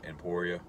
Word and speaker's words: Emporia: That's going to be a level 2, I think it's in Emporia is how it's pronounced, level 2 charger, 48 amp.